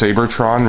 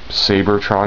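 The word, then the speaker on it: Seibertron: wondering it is pronounced sabertron rather than Cybertron um the name is actually taken from I guess the Japanese pronunciation of Cybertron so they would say it sabertron I guess and you'll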